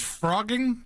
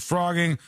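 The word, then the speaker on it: phrogging: The word is pronounced like f R O G, but it's P H R O G.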